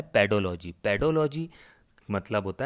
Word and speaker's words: पेडोलॉजी: अध्ययन कराया जाता है, पेडोलॉजी। पेडो से आपको पता चल रहा है, हिंदी में पीडोलॉजी भी लिखा हुआ आता है, लेकिन इसका सही उच्चारण है पेडोलॉजी।